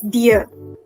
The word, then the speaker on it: dir: So wie geht es dir? This is the informal way. Now this dir, D-I-R, is like the English word D-E-A-R.